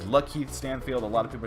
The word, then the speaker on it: Lakeith: the credits it says Lakeith Stanfield. A lot of people are saying Lakeith Stanfield. I apologize if I've been pronouncing his name wrong. I just didn't know it was Lakeith.